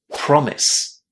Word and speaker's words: promise: In here, we put the stress on the first syllable and we say promise.